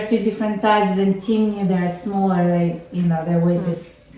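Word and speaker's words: Timneh: Okay, so how do you pronounce the other one? Timney.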